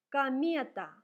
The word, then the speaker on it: комета: Act, act, такт, такт, комета. O is read like A because it is not stressed.